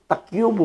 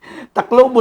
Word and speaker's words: taklobo: Davao, taklubo, pagdating nun, takyubo man. Takyubo man yung nasabi. Kaya pala sabi ko taga Surigao. Sa pastor, daming takyubo dito. Takyubo. Taklobo siguro. Taklobo. Di pala mabigkas yung L. Naging Y.